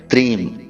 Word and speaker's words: त्रीम: तो अब ध्यान से सुनिए, इस मंत्र का उच्चारण हमें करना है त्रीम।